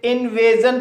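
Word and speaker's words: invasion: इसे टेंशन पढ़ा जाएगा इसी तरह से इनवेजन इस वर्ड में ए के बाद एस आई ओ एन आया है इसलिए एस आई ओ एन का उच्चारण जन होगा इसलिए इसे इनवेजन पढ़ा जाता है इमल्शन इस वर्ड में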